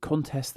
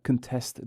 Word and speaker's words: contest: stressed as a verb take contest the noun and contest the verb or object the noun and object the verb subject the noun and subject the verb convict the noun and